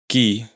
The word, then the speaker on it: qui: en castellano, es decir, siempre se escribe seguida de la letra U, que no se pronuncia. Que que significa qué, qui, quién, aquell, aquel, etcétera.